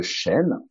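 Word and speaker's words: shen: Et je dirais que l'entité énergétique qui se trouve au niveau du cœur, on l'appelle le chêne. Et comme tu l'as dit, effectivement, ça s'écrit Non, S-H-E-N et non pas comme l'arbre euh, ouais, chêne, encore que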